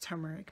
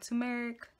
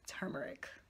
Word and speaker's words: turmeric: many times the pronunciation of turmeric it is pronounced turmeric not tumeric whatever else I'm saying is turmeric Oh Tessa because I switched up many times